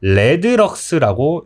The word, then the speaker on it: rlx: RLX라고 읽고요. 이것을 우리가 레드럭스라고 읽게 됩니다.